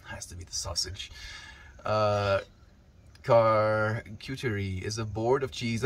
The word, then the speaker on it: charcuterie: It's a French board. It's pronounced, there we go, charcuterie.